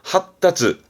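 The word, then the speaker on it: 発達: 의미 발음 챙겨두시고요. 발달이지요? 핫따츠.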